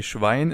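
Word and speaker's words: Schwein: By the way, schwine is also a pretty common swear word in German.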